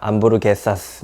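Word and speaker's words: hamburguesas: 참고로 스페인에서 H는 묵음이니까 HAM이니까 암 되고요. BUR이니까 BU를 부, 암부르, R이니까 암부르 되고요. 게, 거잖아요. GER이니까 햄버거, 그래서 암부르게, GE가 개가 되고요. 그리고 마지막이 R이 아니라 SAS였던 것 같습니다. 암부르게사스 뭐 이렇게 적혀 있었던 것 같습니다.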